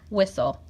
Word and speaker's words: whistle: Whistle. The H is silent.